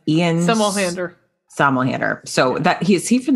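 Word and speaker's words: Somerhalder: This is how do you pronounce his last name? It's Ian Somelhander.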